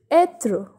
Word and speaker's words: être: But when this accent circonflexe comes on E, here with this letter the pronunciation changes and it's the same as accent grave. The sound is A in this case. So the example is être.